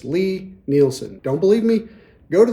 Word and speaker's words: Lie-Nielsen: out there that say Ly Nileson, please stop doing that. The guy's name is Lee. It's pronounced Lee. It's Lie-Nielsen.